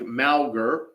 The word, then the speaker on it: Mauger: cowboy State daily for clarifying the pronunciation looks like malgar we're going to use